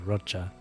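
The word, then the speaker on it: Roccia: I think her name is Rocha, not Rochia. I'm I'm pretty sure the proper pronunciation is Rocha.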